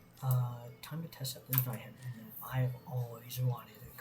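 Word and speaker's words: Zweihänder: None of you YouTubers should be pronouncing it Zweihander. It's not French, it's German. Zweihander, German.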